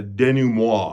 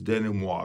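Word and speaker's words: denouement: And this first is going to be kind of a denum. Denum is how I used to pronounce it until I got informed that it's denim.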